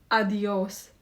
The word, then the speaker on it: adiós: Now let's try adios. This means goodbye in Spanish. The stress is on the second syllable.